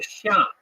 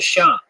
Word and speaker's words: Xia: uh in Chinese history which is called the Sha uh that's spelled xia in modern Western romanization system the pinion system of of spelling Chinese words the Sha uh the Sha is